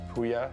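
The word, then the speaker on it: Pouya: Pronouncing it is very easy, it's just Puya. I tell people it rhymes with Buya.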